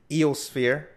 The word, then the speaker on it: EOSphere: So we have Ross and Ken from EOSphere.